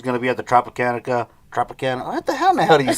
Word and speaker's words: Tropicana: She's going to be at the Tropicana. What the hell do you say that name? Tropicana. Yeah, the Tropicana. There's no R's. You're not rolling your R's. Tropicana.